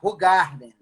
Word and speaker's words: Hoegaarden: Qual é a pronúncia correta desta aqui? Essa é a Hoegaarden.